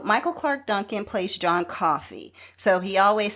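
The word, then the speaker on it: Coffey: So, Michael Clark Duncan plays John Coffee. So, he always says, "Like the drink, just spelled different or no, just not spelled the same." That's what he says. Like the drink just not spelled the same.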